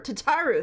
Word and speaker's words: Tataru: say her name right I think it's tataro or tataro Tatar tataru there we go I found it my